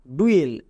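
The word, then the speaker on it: duel: এবার দেখো magic tricks, যেমন ডি ইউ ই এল এর উচ্চারণ কি হয়? ডুয়েল। এটা আমরা এক্ষুনি দেখে আসলাম। ইউ ই এর জন্য উয়ে সাউন্ড হয়।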